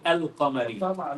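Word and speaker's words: القمرية: And al-huruf al-qamariyah, we say al-qamariyah. Okay. So the lamb is pronouncing it.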